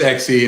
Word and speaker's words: Xe: we do we do it's xc and it's done x it's almost like exponential so it's x to the e okay so there we